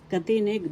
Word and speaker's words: katinig: Let's review the next katinig that we started yesterday. Katinig first syllable ka. Second syllable tired syllable nig. The accent is on the second syllable katinig.